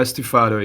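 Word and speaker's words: stufato: do music chroma and stefado does pronounce the second one correctly uh stuffado yeah it's a italian word but yeah what does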